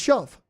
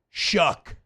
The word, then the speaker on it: Shough: Show. Look up Louisville quarterback. Okay, and how would you pronounce it? Oh, Show. No, I know it. It's Shove. No, you're close. Shao. Shuck.